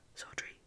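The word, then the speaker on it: Southwark: as 1666 had proved southark was then pronounced sultry it is now pronounced so so hot or near it indeed an excellent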